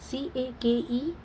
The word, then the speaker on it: cake: First is CAKE, cake, right? यहाँ पे E sound जो है वो silent है, हम E को pronounce नहीं करते हैं.